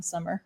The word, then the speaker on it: Sommer: Everyone else wants to put an S on Sommer. I know. At the end. Yep. So it's spelled the same way, but without the S. Right. It's a German spelling of the season summer. With an O. With an O. Very good. Instead of a U.